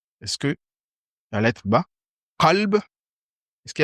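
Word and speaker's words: قلب: Qalb, c'est le cœur, et kalb, c'est le chien. Qalb, c'est le cœur.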